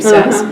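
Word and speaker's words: Szasz: Again, Dr. Thomas Sass, that's how you say his name, Sass, Professor Emeritus of Psychiatry,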